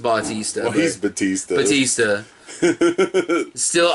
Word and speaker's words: Bautista: I can't call him Dave Batista. You can call him that all you want, but that's Batista. No, technically his name is Dave Bautista. His name is pronounced Bautista.